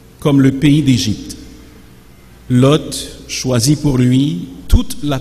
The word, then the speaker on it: Lot: seigneur une petite parenthèse vous m'avez entendu prononcer lot et c'est correct ce n'est pas l'eau si vous avez certaines traductions comme parole de vie ou la nouvelle bible se gonfle la bible du summer vous verrez que l'orthographe choisi pour ce nom c'est elle oth donc le thé n'est pas muet il faut bien le prononcé des choix qui honore